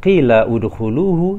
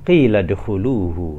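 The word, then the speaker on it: قيل ادخلوه: Di sini kita tidak membacanya qila udkhuluhu, tetapi qila dkhuluhu. Hamzah wasal tidak kita beri harokat, tidak kita baca berharokat karena dia mengikuti kata yang lain dan kita baca bersambung.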